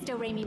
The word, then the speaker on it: Doremi: My little sister's name is Doremi Midorikawa. It's spelled like notes and pronounced Do-Re-Mi.